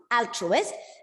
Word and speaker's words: altruist: we learned altruist yes its beginning sound is altruist and the stress is on the first syllable what do you mean